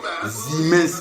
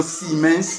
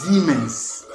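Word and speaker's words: Siemens: Parce que même le S en allemand se prononce Z. Ouais. Se prononce Z. Zimens par exemple. Nous nous lisons siens mais les Allemands lisent zens.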